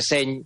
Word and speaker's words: seny: La primera cosa, que a lo mejor no lo sabe, en catalán, cuando la N y la Y van juntas, se pronuncia como la ñ en castellano. Si usted quiere utilizar la expresión seny en catalán, cuando está